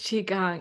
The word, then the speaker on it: Qigong: saying that correctly and I've heard many different pronunciations of it I've heard everything from Qigong to Qui-Gon to so many different things but yeah it's chica it's Qigong and you're the expert